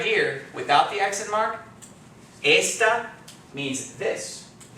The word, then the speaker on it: esta: we see that work the normal pronunciation rule is telling us that because it ends in a vowel the accent is going to fall on the second device which would be esta right but as soon